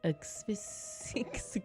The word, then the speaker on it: asphyxiation: She died by asphyxiation.